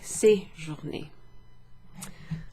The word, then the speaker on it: séjourner: Slightly different, but séjourner, okay? with a little accent over the E, which makes it an A sound, an E, séjourner.